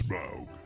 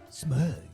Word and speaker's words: Smaug: Rhymes with grug. It's Smaug. Smug.